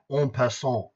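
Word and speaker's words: en passant: move on the board on P okay that's how you pronounce it it's a French phrase means you take him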